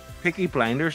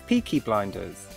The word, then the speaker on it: Peaky Blinders: this is so dramatic piggy blinders in 18 minutes why do you all keep saying it wrong you're all blinded no is there anyone going to say right it's peaky blinders it's peaky [ __